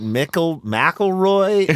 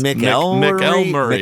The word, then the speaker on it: McElmurray: You're like, is it McElroy? No, it's McElmurray.